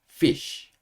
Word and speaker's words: fish: 프 프이 소리예요 어 입술이 붙지 않고요 입술 사이로 바람이 빠지면서 프 프 이렇게 되는 거예요 그러니까 Fi 피 그죠이가 합쳐지면서 피 이렇게 되는 거고요 SH 쉬 그래서 합치면 fish fish 이렇게 발음하시면 됩니다 자 그러면이 단어도 같이